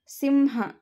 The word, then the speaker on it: ಸಿಂಹ: ಇದನ್ನ ಉಚ್ಚಾರ ಮಾಡಿ ನೋಡೋಣ ಸಿಂಹ ಇದನ್ನ ಉಚ್ಚಾರ ಮಾಡಬೇಕಾದರೆ ನಾವು ಬಳಸುವಂತಹ ಅನುನಾಸಿಕ ಯಾವುದು ಅಂತ ಮೊದಲು ಕಂಡುಹಿಡಿದುಕೊಳ್ಳಬೇಕು ಇದನ್ನ ನಾವು ಉಚ್ಚಾರ ಮಾಡಬೇಕಾದರೆ ಮ ಅನ್ನುವಂತಹ ಅನುನಾಸಿಕವನ್ನು ಬಳಸ್ತೀವಿ ಸೋ ಇಲ್ಲಿ ಮ ಅನ್ನೋದು